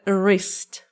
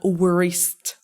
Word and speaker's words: wrist: No, it's not a Okay, it's a wrist. Not worist. Wrist wrist. W is silent here.